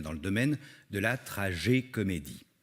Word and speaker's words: Tragécomédie: de la trajet comédie je dis bien trajet comédie et si je mets l'accent tonique sur le et de trajet comédie c'est pour faire la différence d'avec la tragi-comédie qui est apparu au xvième siècle qui définit une histoire